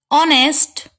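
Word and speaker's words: honest: यहाँ पे H silent है और जो इसका प्रोनाउंसिएशन है वो है ऑनेस्ट।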